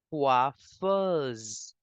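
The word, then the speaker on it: coiffeuse: it is quaffers quer quers s between two vels so we will make the sound of Z quer quers next we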